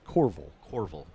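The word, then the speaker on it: Courville: tell them how it's spelled but it is pronounced corval corval c c Ur r v i l l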